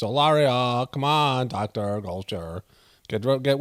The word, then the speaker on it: Hilaria: name wrong it's not Hillary it's it's Hilaria it's not Hillary it's olario come on Dr culture